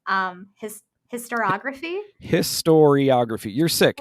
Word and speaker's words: historiography: this as games as histography is that histor historiography it just histography is just just a fancy word that means